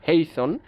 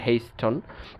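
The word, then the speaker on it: hasten: দেখেন ফাস্টন, লিস্টন, হেইস্টন, যদিও এইটার উচ্চারণ হেইসন, হেইসন ইটস নট হাস্টেন অর হেইস্টন. সো দেখেন উচ্চারণ করতে কষ্ট হচ্ছে.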